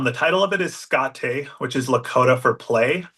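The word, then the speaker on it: škáte: title of it is scotte which is Lakota for play it's spelled like skate but with the little Accent on the E so you kind of know how to pronounce it um it's a story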